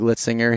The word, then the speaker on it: Litzinger: the total archery challenge and I have Greg litzinger here with me that I pronounced that correctly correct correct so welcome again